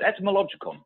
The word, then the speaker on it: Etymologicon: the show, an internationally best-selling author of the Etymologicon. See, say that 10 times on a happy hour show. I'm not even saying it right. Am I, Mark? That was pretty good. Etymologicon, yeah.